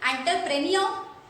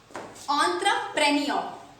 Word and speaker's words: entrepreneur: एंटरप्रेन्योर। गलत pronunciation है guys, इसका सही प्रोनाउंसिएशन है ऑन्ट्रा, ऑन्ट्रा, प्रेनियो। ऑन्ट्रप्रेन्योर।